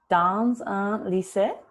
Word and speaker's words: dans: Here again, you've done very well because the dans all by itself is dans with that French nasal sound, but because that consonant is followed by a vowel, the z drags on to the next one.